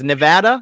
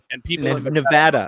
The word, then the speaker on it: Nevada: me i try to say it right it's nevada nevada it's nevada yeah nevada okay i was i was waiting for it i thought what'd you call it nevada so anyways yeah but look we're all over